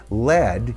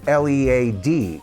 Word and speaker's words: lead: writing it out, and he didn't like the fact that lead, spelled L-E-A-D, could also read lead, like lead guitarist.